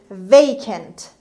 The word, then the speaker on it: vacant: word number six is vacant vacant vacant heya valero so they aim it means empty or not filled and the stress is on the first syllable estresses the first example